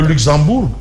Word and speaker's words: Luxembourg: état ah oui le Luxembourg bon on ne prononce pas le G sinon le professeur pas